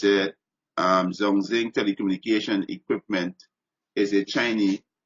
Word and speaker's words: Zhongxing: It says Zong, pronounce this word, right? Let's see, right? Zhongxing. Oh, Zhongxing, right?